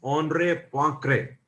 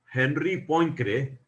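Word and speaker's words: Henri Poincaré: a French scientist and in French language the pronunciations are different from normal English pronunciation so it is not pronounced at as Henry ponre but it is pronounced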